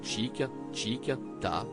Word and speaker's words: tic-tic-tac: La magie opère immédiatement à l'écoute des premiers tic-tic-tac, prononcés chic, chic, ta, et on imagine bien Patrick Bruel remuer son bassin d'avant en arrière comme dans le futur clip.